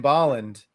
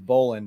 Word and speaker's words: Bolland: it took me forever not to pronounce his name as Brian Boland which is how I read it for my entire 25 years of my life I just I just read it as Boland in it to find